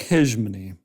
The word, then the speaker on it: hegemony: what the suffix is I like hijman H like garage that soft G with the E anyway go for it